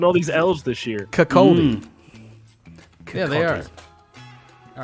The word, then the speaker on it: Kirkcaldy: How would you pronounce that? Kirkcaldy.